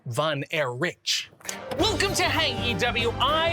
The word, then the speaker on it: Von Erich: It should actually be pronounced van air rich.